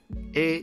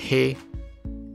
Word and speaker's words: へ: 作助词，发音是 A，不是黑。黑是作为一般单字的时候才是这个发音。